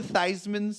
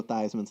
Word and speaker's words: Theismann: changed the pronunciation of Joe Theismann's last name was changed to rhyme with Heisman for senior at Notre Dame in 1970 the way the story goes his name was originally pronounced Esmond but that's not exactly